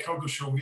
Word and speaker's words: Coggeshall: Have I pronounced that right? Yeah, Coggeshall, yes.